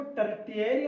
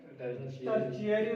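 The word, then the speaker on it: tertiary: थे roots टर्चरी roots इसको टर्री नहीं पढ़ेंगे बल्कि टर्शियरी रूट्स।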